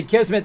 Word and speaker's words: Kismet: Just say Kismmet. This is how you say my name.